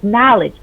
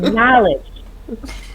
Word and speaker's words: knowledge: And the N in passion is knowledge. I know it's a K in there, but the K is silent. We all know it's silent. So it's knowledge.